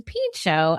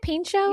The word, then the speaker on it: Pinchot: Bronson Pinchot as the star of the show.